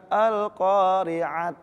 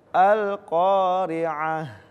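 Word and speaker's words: القارعة: Tam marbuto ketika diwakafkan bukan alqoriat bukan alqoriat tapi dirubah menjadi huruf ha tetap disukunkan mau dia Fatah Tain atau kasr Tain atau apapun itu tetap dirubah menjadi huruf ha jadi bacanya alqori'ah nah seperti itu itu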